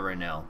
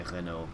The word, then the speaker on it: Renault: In, I think if you're French, you would say Renault, but if most people wouldn't say it like that, just because they don't realize it's supposed to sound like that.